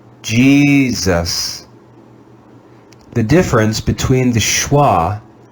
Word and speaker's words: Jesus: Let's read this word together using the schwa sound. Jesus, Jesus, Jesus.